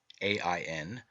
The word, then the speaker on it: Aen: In this myth, John, Aen, spelled A-E-N, E-I-O-N, and A-I-N, three forms of the word and all pronounced Ain, represents the redeemed and glorified man.